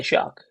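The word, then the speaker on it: Shough: Tyler, his name is pronounced Shuck because that's all the announcers are saying.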